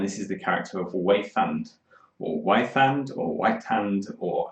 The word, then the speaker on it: Weithand: e i t h a n d e wayfand i'm going to say um and waythant is